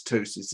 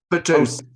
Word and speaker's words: ptosis: I'm not sure how you pronounce ptosis in Greece. Yeah. Is it ptosis? Ptosis. We Ptosis. have a P in, yeah.